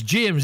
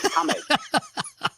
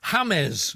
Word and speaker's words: James: can i just say his name is james isn't it it's hamed don't disrespect the genius do not disrespect the genius fella hi hamez okay i'm amazed rodriguez